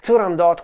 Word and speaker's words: Turandot: the Arya is from the Opera turandot or sometimes pronounced turando by Giacomo Puccini with